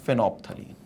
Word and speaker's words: phenolphthalein: अब ये structure will be called as फेनोप्थलीन, तो ये जो होता है ये स्ट्रक्चर आपका कहलाता है फेनोप्थलीन, ये फेनोप्थलीन है, so this is फेनोप्थलीन, pH silent रहता है इसमें, फेनोप्थलीन ऐसा बोलते हैं इसको, तो ये आपका फेनोप्थलीन